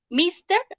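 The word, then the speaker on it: Ms.: ejercicio entonces míster potts mixta es así se escribe señor listo míster y para decir señora es ms visto es ms el señor y se dice mix míster es señor y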